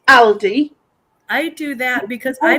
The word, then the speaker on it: Aldi: we have Aldi and my friend says Aldi I'm like no it's Aly I do that because